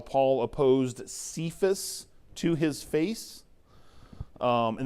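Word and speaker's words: Cephas: Aramaic it is uh the same rock is uh pronounced sephus uh so if you uh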